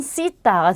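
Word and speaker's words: cita: 근데 이 쌍시옷은 우리 스페인에서는 보통 번데기 발음이라고 해서 우리 TH 발음이라는 거 알고 계실 거예요. 네, 그 발음이 납니다. 그래서 약간 쓰 발음이 나요. 그래서 세르도라든지 시타 이렇게 발음이 나고요. 남미죠. 라틴 아메리카에서는 세르도 시타 이렇게 발음이 됩니다.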